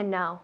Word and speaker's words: know: To know. Muy To bien, know. to know. Igual que no. No quiero. No. To know, no. La pronunciación es igual, aunque tiene una K. To know, decimos.